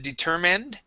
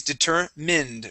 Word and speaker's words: determined: Here you had said determined. Manned. Okay, it is determined with a short I.